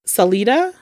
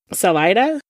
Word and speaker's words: Salida: And wouldn't you know, a hundred miles away from Colorado Springs in a town called Salita, I believe, is how it's pronounced. I don't know if I'm saying it wrong. Salida.